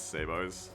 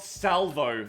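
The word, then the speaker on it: sabot: i just gotta balance sabo's yeah it's pronounced sabo not sabo no no not salvo sabo it's a type of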